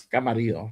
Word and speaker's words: Camarillo: County Oxnard area in Camarillo Camarillo Murillo Camarillo whatever you want to call it. It's Camarillo technically, but however you guys want to pronounce it is all good.